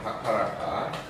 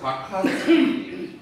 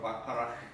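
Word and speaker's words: Bacharach: 근데 현행 기준으로 대형 박하라카. 박하치. 영어 발음으로 박하치라고도 하고 독일어 발음으로 박하라크. 원래 박하라카가 아니고 박하라크.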